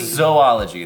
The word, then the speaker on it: zoology: It's zoology. There's two O's in the word. It's not Z-O-O-O.